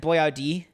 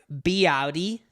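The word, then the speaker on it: Boiardi: So his name isn't Boyardee. It's Boyardee, by butchering it.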